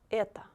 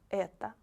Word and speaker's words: это: The last word is это, это. Not это. It will be это, because O is not stressed.